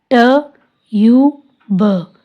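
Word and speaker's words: tube: ट यू ब, ट्यूब, ई साइलेंट।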